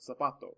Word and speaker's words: zapato: things like that finally the letter z makes an s sound there's no this is a sound uh on it's just the word the word that's like so you have to sort zapato or uh the letter